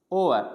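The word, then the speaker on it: hour: फिर ओआ, ओआ, ओआर, यानी ये जो घंटा होता है, यानी हावर नहीं बोला जाता।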